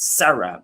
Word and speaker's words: Zara: She gets all her clothes from Zara, which is actually pronounced Zara because it's Spanish.